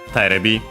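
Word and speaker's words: テレビ: But yeah, so Terebi. We've seen though that the accent of this abbreviation is on the first mora.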